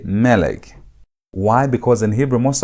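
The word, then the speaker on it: מֶלֶךְ: don't pronounce it as melek. You don't emphasize the last part of the word. You emphasize the first part of the word. So, instead of saying melek, you say melek.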